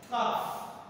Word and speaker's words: calf: Calf.